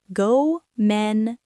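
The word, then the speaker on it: ごめんなさい: Gomennasai.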